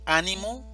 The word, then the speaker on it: ánimo: Una cosa es ánimo, animo y animó.